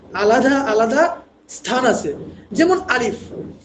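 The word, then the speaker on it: ألف: আলিফ লাম মিম দেখেন আপনি যখন আলিফ উচ্চারণ করছেন আ লি মানে তিনটা অক্ষর আছে অর্থাৎ আলিফ এই আলিফটা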